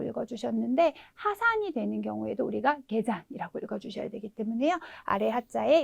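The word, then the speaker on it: 下山: 등산도 예외 발음이어서 토잔이라고 읽어주셨는데 하산이 되는 경우에도 우리가 개잔이라고 읽어주셔야 되기 때문에요.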